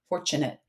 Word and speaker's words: fortunate: CH for T is really smart there because we actually pronounce it like ch, fortunate.